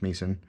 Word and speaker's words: Misen: I think it's pronounced Misen. It's kind of short for Mise en place.